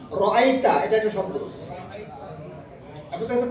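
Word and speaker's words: أرأيت: আর আতাল্লাজি শব্দটা হলো আ মানে কি আ রাইতা এটা একটা শব্দ আপনাদের কাছে কোরআন আছে না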